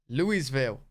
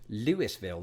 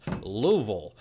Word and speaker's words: Louisville: past remind me that they somehow articulated in just two and a half syllables Louisville the city was named